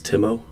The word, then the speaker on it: Timo: By the way, Ryan, Timo is pronounced like it is written, so it's Timo, because it's a Finnish name. Your pronunciation sounds like Timo.